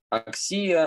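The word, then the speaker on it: ἀξία: Аксия ударение не на третьем слоге от конца, как в аксиос, а на втором. Почему? Ну, потому что альфа долгая.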